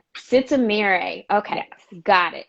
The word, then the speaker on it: Sitemere: think i slaughtered your last name can you pronounce it for me please yes sista mirei sitzamire okay got it it's it's amiri trisha said